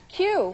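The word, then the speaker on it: queue: Q. Q is right. Q is the answer. It's spelled Q-U-E-U-E.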